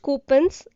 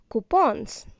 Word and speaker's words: coupons: Yes, it is not coupons, it is coupons.